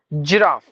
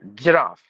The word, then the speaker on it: giraffe: for fate no forfeit JRE giraff giraffi no the animal giraffe graffiti graffiti meaning you